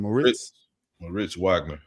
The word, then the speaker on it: Moritz Wagner: Moritz Wagner.